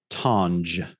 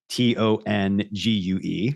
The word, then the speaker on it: tongue: of t-o-u-n-g-e right but they were apparently trying to signal that you were not supposed to pronounce that tange right because if you picture t-o-u-n-g-e that ngee you could pronounce that with a hard G the unj thing right so therefore to try to signal that that was not how you were supposed to pronounce it tongue variance like t-o-u-n-g-e or